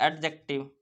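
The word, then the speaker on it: adjective: है ना उसके बाद एडजेक्टिव देखो एडजेक्टिव एडजेक्टिव नहीं एडजेक्टिव उसके बाद एडजेक्टिव मेरे साथ एक बार बोलिए एडजेक्टिव एडजेक्टिव नहीं डी साइलेंट होता ठीक है डी साइलेंट होता है एडजेक्टिव र्ब एडवर्ब है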